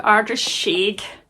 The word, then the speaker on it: Ardrishaig: Are coming with us to Ardrishaig. That's how you say it.